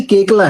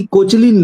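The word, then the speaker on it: Koechlin: English वाले भी गलत बोलते हैं और हिंदी वाले दूसरी लैंग्वेज में क्योंकि फ्रांस का जिक्र आया तो कल्कि केकला है। वो कल्कि कोचलीन नहीं है।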